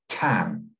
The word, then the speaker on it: can: They learn to pronounce can as can. But if I stress a different word in that sentence, then the sound of can changes.